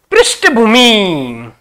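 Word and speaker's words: पृष्ठभूमि: शब्द है पृष्ठ भूमि या ठ आता है ट का उच्चारण आपको नहीं करना भाई या ट आपको मिले तो गलत होगा जैसे इस प्रकार लिखा मिले आपको पृष्ठ भूमि ये गलत है पृष्ठ भूमि पृष्ठ भूमि इसको इस प्रकार उच्चारण इसका माना जाएगा तो जयोना पूजने केंद्रीकरण और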